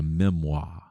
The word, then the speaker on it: memoir: Then I'm going to say it the way that it's spelled, so you'll know what I'm talking about. A memoir, memoir, as we would say in Mississippi, a memoir, right?